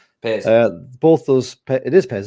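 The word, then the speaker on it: Pears: I wish I knew how to pronounce his name. Piers.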